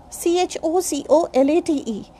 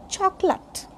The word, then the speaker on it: chocolate: Next, chocolate. We say chocolate. No, it's not chocolate. This is chocolate. Chocolate. We don't put stress on a.